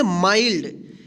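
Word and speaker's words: mild: माइल्ड। इसको ध्यान रखिएगा। इस देखिए इसमें एन नहीं है। फिर भी इसको माइल्ड पढ़ेंगे। इसको मिल्ड नहीं पढ़ेंगे।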